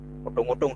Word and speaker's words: odong-odong: Odong-odong itu O, O, bukan O. Jadi itu dibacanya O, O Jawa ya. O Jawa, jadi jangan salah.